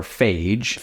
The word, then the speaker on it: Fage: ever had um I do like f or Fage if you want to call that yeah but